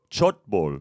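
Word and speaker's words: 촛불: Chupul. Chutbul. Maybe. Chutbul, maybe. Maybe. This is a fantastic Korean pronunciation. We're going to have confirmation from Lobotomy. Is it Chutbul? Chutbul.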